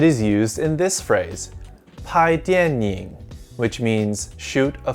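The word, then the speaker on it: 怕: This character is pronounced pa and means fear.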